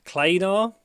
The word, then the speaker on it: Klanar: So welcome to my review section of the Kefine Klanar. Obviously rhymes with planar.